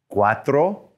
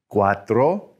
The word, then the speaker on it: cuatro: tres tres four is cuatro cuatro remember that c u is what's making that choi sound and then five is cinco cinco practice those uno dos tres cuatro all the way up